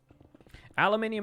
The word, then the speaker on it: aluminium: Aluminium is different because we actually spell it aluminium. So, like, the British and American pronunciations are accurate based on the spelling that each country uses. Like, we actually write the extra min.